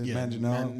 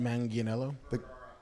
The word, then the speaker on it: Manganiello: Did you see the picture of Joe how do you say Manganiello? Manganiello?